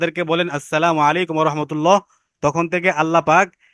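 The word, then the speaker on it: السلام عليكم: আসসালামু আলাইকুম এটা বলার ক্ষেত্রে আসসালামু মিমের পেশটাকে স্পষ্টভাবে উচ্চারণ করতে হয়, আলাইকুম আইনটাকেও স্পষ্টভাবে উচ্চারণ করতে হয়। কেউ কেউ বলে সালাম আলাইকুম, আসসালাম আলাইকুম, এগুলো কোনো কি না, সালাম না।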